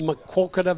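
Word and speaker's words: Maquoketa: or uh how do you say it coach makoka Valley Mac Valley as we called it in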